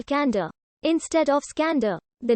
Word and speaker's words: Iskander: It is suggested that the name Kandahar evolved from Iskander, pronounced as Skander, in the local dialect version of the name Alexander.